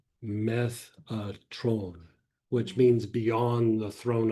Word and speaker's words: Metatron: There's the archangel Metatron, which is not really the proper way to say it. Like the proper way to say it is Methatron, which means beyond the throne of God or behind the throne of God.